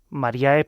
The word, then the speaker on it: Mariee: Mariee, para los que lo quieran buscar en en Google, se escribe Mariee, pero lo decimos Marie.